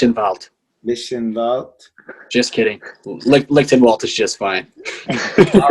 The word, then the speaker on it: Lichtenwaldt: last name nish involved mission vote just kidding linkedin walt is just fine all right uh hardcore legend